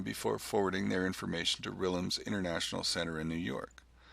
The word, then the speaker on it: RILM: Next, we look at RILM, often pronounced RILM, which stands for Répertoire International de Littérature Musicale.